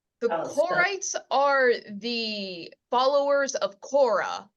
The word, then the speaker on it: Korah: are the followers of Kora which is how you say the name of the person who led the rebellion in this week's chapter